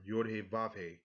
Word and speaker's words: Yod-Heh-Vav-Heh: A lot of people believe this is not pronounced correct as Jehovah, like Jehovah Witnesses, and they pronounce it as Yod-Heh-Vav-Heh.